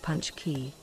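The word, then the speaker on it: pączki: Have you ever had a punch key? Pronounced punch key.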